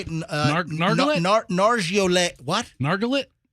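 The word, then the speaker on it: Nargolet: Nargolay? No, it's L-E-T is not let. In French, it's lay. So it's Nargolay. Oh, like the car. Is Chevrolet.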